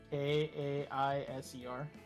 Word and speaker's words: Caesar: cuz fun fact he that's how Caesar is supposed to be pronounced as Kaiser ah now you know